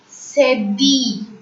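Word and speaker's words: cédille: Fourth one, cedi. Cedi. ILLE in French is pronounced as E.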